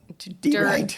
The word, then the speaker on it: deride: Pronounce that word properly because that sounds wrong with your accent. Deride. Not to ride. To deride.